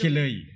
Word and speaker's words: Kelly: Eric Kelly, Shout one out of po the kay Eric Kelly. ito, yung kanyang Pero hindi ganyan ang pagka-pronounce dapat na apelido. Kilay. Eric Kilay dapat. Dahil siya ay tubong Abra.